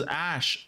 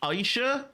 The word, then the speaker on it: Aisha: I've been pronouncing that wrong for years. I always thought her name was Ash. Aisha. Okay, years. I've never pronounced her name right.